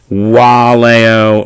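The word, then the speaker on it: valeo: right, we talked about the V being pronounced as a W. So just to take a look at some words here, waleo, wenio, awis. All right, so all of those V's are going to be pronounced like W's.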